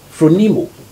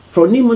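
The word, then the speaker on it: φρόνιμος: it on the screen though yeah it is pronounced from nemo from nemo that is somebody who is thoughtful understand that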